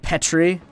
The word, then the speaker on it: Petrie: It's pronounced Petrie.